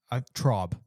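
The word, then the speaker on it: Traub: of the facility was Eric um Trab Trob. Trob, that's how you pronounce the name.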